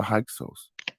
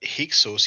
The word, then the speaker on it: Hyksos: I think by now, brothers and sisters, you understood that Hyksos is the Greek pronunciation of Hekahasut.